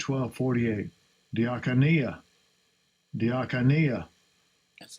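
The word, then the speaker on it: διακονία: Diakonia. Diakonia. That's how it's pronounced.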